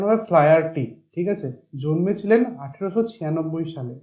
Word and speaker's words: Flaherty: বলছে লিয়াম ও ফ্লায়ারটি, উচ্চারণ হবে ফ্লায়ারটি, ঠিক আছে, জন্মেছিলেন 1896 সালে, 1896, মারা গেছেন 1984-এ।